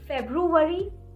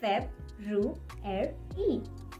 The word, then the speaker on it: February: If you're saying February, then this is not the correct way to say this. The correct way to pronounce this word is February. February. February. Brr-re. These two are the difficult sounds in this word.